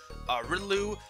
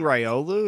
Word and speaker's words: Riolu: You can find Graveler, Seviper, Beldum, Wormadam, but only the Sandy Cloak, Riddloo, Granados, Dolphin. Actually, wait, Riddloo might be special because it has a question. Are you saying Riolu?